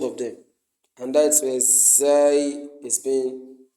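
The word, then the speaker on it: زاي: And now let's move to the next letter, which is Zai, Zai, Zai, Zai. It is pronounced between two incisors, your two incisors, Zai, Zai, the two incisors.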